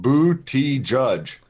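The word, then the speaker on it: Buttigieg: to understand guys yeah a man out there said you pronounce it bootie judge so I don't know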